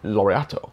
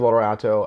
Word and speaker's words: Laureato: I believe that's how it's pronounced, which is a funny word. It almost sounds like Origato. You know, it doesn't sound like it's Swiss. Laureato.